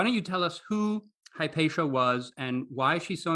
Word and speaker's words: Hypatia: call me patty um in greek i would call her ipatia in the american english i'm used to she's more often called hypatia how do you pronounce